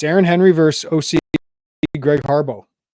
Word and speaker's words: Harbaugh: Henry versus OC Greg Harbo spelled Harbaugh but pronounced Harbo um I just this